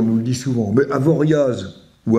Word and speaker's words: Avoriaz: comme Bruxelles on nous le dit souvent mais Avoriaz ou avoria avoria euh est-ce qu'on va à Cassis ou